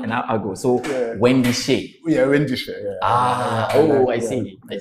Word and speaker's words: Wendy Shay: Wendy Shuan. It's Wendy Shuan. Wendy Shay.